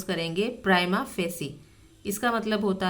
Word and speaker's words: prima facie: Prima facie, इस word को हम प्रोनाउंस करेंगे प्राइमा फेसी।